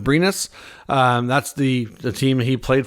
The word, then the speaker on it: Brynäs: He's expected to sign a 1-year deal in Sweden with, I think it's pronounced Brynäs.